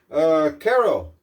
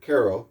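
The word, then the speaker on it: Каро: Caro, if I remember correctly, that's how you pronounce that, even though it looks like Kapo, but Caro, K-A-R-O.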